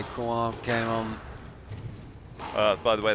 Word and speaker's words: Crouin: As you say, Crouin came on. By the way, that's the best you pronounced it so far.